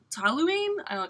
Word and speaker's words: toluene: And then toluene, T-O-L-U-E-N-E. I'll spell it for you just because, you know, my pronunciation is scary.